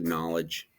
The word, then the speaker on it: knowledge: is know knowledge actually knowledge the K is silent but a lot of